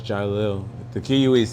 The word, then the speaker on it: Jiquelil: Jill. No, it's Jil. The queue is silent.